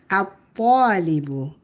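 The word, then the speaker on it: الطالب: We put alif lam, but the lam is quiet. The a connects to ta right away. So the lam is silent. At-talibu, at-talibu. Talibun, at-talibu.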